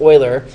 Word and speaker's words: Euler: video is oil's formula his name is pronounced Oiler he's a mathematician and